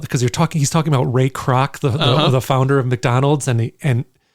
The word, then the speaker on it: Kroc: I mean, there's a bit about, because he's talking about Ray Kroc, the founder of McDonald's. And he says, he's got this line, like, it's like crocodile, but not spelled like that.